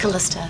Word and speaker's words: Calista: May I ask, do you pronounce it Calista or Calista? Calista.